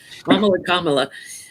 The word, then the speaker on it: Kamala: I have to say Mamala before I can say her name right. Kamala.